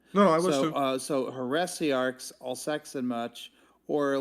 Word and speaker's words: heresiarchs: But if you say heresiarchs, you can break it down to 3 at the same time. So it depends on how many syllables the person is trying to put into the Also sentence true. itself at the same time. So because like you can say it fast enough to make here into 1 syllable. You can say heresiarchs, and then it becomes 3 syllables instead of 4.